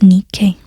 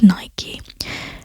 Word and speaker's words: Nike: Oh, I think it's Nike if you pronounce the Greek way rather than the Roman way, which is the goddess of victory.